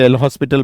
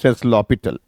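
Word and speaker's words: L'Hôpital: आपको बताया था कि काफी लोग इसे एल हॉस्पिटल बोलते हैं बट कोई दिक्कत नहीं है आपको पता होना चाहिए बट एक्चुअली इट इ प्रोनाउंस ए ल पिटल इट फ्रेंच वर्ड ओके अब आगे चलते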